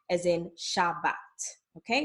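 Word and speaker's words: שבת: with the letter A, it's going to be pronounced as A, as in Shabbat, okay?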